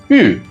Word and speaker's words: 玉: Now repeat with me, yu in Mandarin or yoku in Japanese.